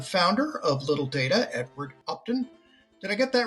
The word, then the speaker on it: Upton: joined by the founder of little data Edward opton did I get that right Edward you did